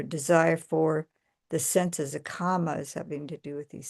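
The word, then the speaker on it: kāma: So, comma comma with a long a that has to do with desire uh with the um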